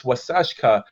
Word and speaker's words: Waasaashkaa: the what came up was uh the word wasashka and it means the lake has white caps and beautiful and when this time of year happens then i look at it on the every day it's wasashka what is an older it's an old word